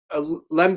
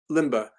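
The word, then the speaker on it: Lemba: but that african group lembe is that how i'm pronouncing it uh limbaugh ellie mba limba so that group um that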